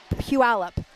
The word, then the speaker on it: Puyallup: And do you know how many and it's spelled Puyallup. Puyallup.